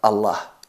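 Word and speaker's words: الله: es atenuada pero aquí la letra lam de la palabra allah en concreto se pronuncia enfatizada en función de la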